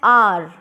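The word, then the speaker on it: hour: For example N आर, इसमें H silent है, हमने इसको प्रोनाउंस किया तो निकला आर। An honest man, honest, H इसमें साइलेंट है।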